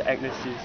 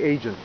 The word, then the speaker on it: Agnesi: see who is very agnes okay don't say asian this is not asian i've heard some people call it asian this is agnes ravioli penne pasta fettuccine